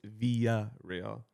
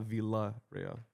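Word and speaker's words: Villarreal: It's via real not VA.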